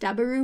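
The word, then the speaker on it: ダブル: And W also is used in Japan to convey, like, powerful because double is pronounced daburu, which is the same way. Double and W are pronounced the same way in Japanese.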